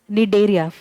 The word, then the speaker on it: Cnidaria: It is read as Nidaria, but the C is silent.